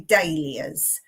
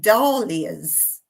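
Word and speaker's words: dahlia: many different pronunciations of in England we say daers but many people say daras or um very similar to that my Australian friends I think they say daras as well but I say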